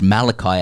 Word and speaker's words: Malachi: Yours in soft cues, Malachi, pronounced Malachi as in Martin Zalesniak.